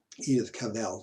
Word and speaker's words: Edith Cavell: Edith Cavell, say it right.